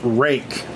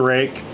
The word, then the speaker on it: RUIKE: are making knives a knife manufacturer and it's pronounced rake it's Rui ke I don't know what in